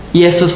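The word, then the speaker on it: ܝܫܘܥ: Jadi kalau misalnya di dalam Katolik pernah dulu saya diajarkan, Yesus itu bahasa Ibraninya adalah Yesua, Yesua. Jadi Yesua itu ya bahasa Ibrani ya. Kalau dalam bahasa Aramaik, bahasa Aram itu bacanya Yesu.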